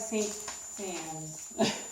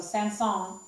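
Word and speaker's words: Saint-Saëns: stain Sandy's of it it looks like see scenes but you say it's and songs hands on you don't say the eyes of the end so Sam song and it's Camille which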